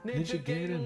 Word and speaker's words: Ninja Gaiden: He's saying Ninja Gaiden, but it's Ninja Gaiden. Ninja Gaiden is how it's pronounced.